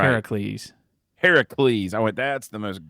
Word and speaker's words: Heracles: and the other one is the blood of Hercules no that's not Hercules what's it called man say it right Heracles Heracles I that's the most ghetto thing I've